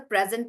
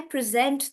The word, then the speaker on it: present: So the present is either a gift or it's the present tense, and then we're using it as a noun, and that's why we say present, and the stress is on pre.